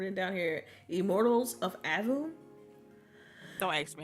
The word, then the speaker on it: Aveum: I gotta remember it down here Immortals of Adam so I asked me how to pronounce it yeah that's how they say in the trailer in the trailer they say album so okay all right so Immortals of album